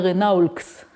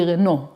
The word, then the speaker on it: Renault: As when I was a child, we had a Renaulx. So I didn't know that it should be Renault. There were all these letters and I read them. Okay, so French has a